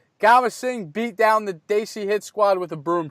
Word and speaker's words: Desi: I'm proud of you for continuing to pronounce Desi properly. Oh, that's in my vocabulary, Trent. It's Desi.